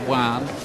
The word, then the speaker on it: Joan: It looks like Joan Guzman when you look at the name on paper, but it's pronounced Juan.